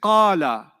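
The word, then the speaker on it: قَالَ: When I say qala, how many syllables did you hear? Qala. 2 syllables, isn't it?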